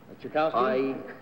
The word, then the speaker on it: Tchaikovsky: How would you pronounce the name T-C-H-A... Tchaikovsky?